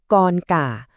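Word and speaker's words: con cả: คน โต สุด เนี่ย เรา จะ เรียก ว่า กอน ก่า กอน กอน ก่า ส่วน ลูก คน กลาง ก็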